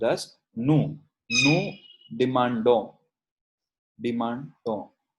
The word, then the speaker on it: demandons: Nous demandons. Demandons. It is not pronounced as ONS. It is pronounced till here only.